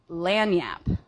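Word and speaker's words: lagniappe: So, the the word is lanyap. It is. It is spelled L A G N I A P E.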